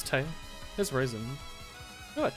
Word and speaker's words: Tewi: It's Tay. Yeah. Not Tewi. Just pronounced as T-E-I. I do not know what the W is in there for.